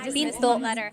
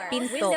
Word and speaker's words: pinto: Don't forget to stop the sound door sa Tagalog. It's called the glottal stop. Pinto. Pinto. It's not Tagalog. It's pinto. Stop it at pinto.